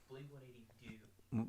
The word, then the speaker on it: Blink-180 Deux: how's it pronounced? Blink-180 Deux. Blink-180 Do.